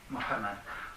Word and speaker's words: Mohammed: Donc, moi, je le prononce comme ça, parce que vous trouvez beaucoup d'écritures de ce personnage. Bon, en arabe, Mohammed.